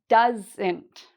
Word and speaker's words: doesn't: Again, we have the "ent" and the stress is on the first part; you say that part louder and longer: "doesn't", "doesn't".